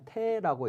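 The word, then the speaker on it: 大: 이제 태사지는 할 때 요것은 대라고 쓰여져 있지만 테라고 읽습니다 그리고 퇴사라고 하는 것은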